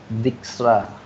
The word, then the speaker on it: Dijkstra: Mana bacanya nih? Dijkstra.